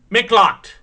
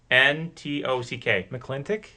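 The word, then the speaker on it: McLintock: Number 9 was Mintlocked. M-C-L-I-T-O-C-K. Mintlock. Mintlock. Am I saying it right? Spell it again. M-C-L-I-N-T-O-C-K. McClintock.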